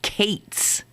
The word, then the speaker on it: Katz: a friend of mine whose name was Katz, Katz, and she pronounced it Kates.